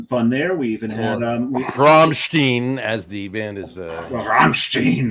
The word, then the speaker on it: Rammstein: We even had Rammstein, as the band is Rammstein. Rammstein. But in German it's Rammstein, and that's the way that Greg's pronounced it.